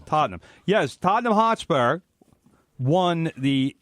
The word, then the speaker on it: Tottenham: Pronounce it correctly. Tottenham.